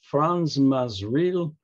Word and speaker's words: Frans Masereel: pronounce it and uh according to them it's franz mazreel uh was a misreal